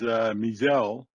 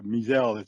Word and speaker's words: Mi'sel: My name is Mizelle, and it's pronounced that way, Mizelle. It's a short spelling, but it's a longer sounding name.